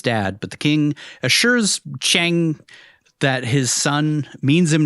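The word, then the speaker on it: Qiang: The servant we saw earlier, or guard, uh, Chang, I think is how you say it. Q I A N G King I think it's I think it's like Chang Chang tries to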